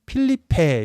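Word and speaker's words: Felipe: 이렇게 쓰기도 한다고 합니다 스페인어로는 필리페 이렇게 발음이 되고 필리페 2세에 대해서 오늘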